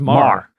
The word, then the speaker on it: Maher: How do you pronounce Maher. it? I always screw it up. Just Maher. Okay, Maher. Bill Maher. You're doing too much. Do less.